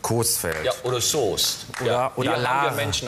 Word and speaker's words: Coesfeld: wird im münsterland wie aber es gibt noch das berühmte dehnungs e also das heißt nicht süß feld sondern coesfelder oder soja und alaa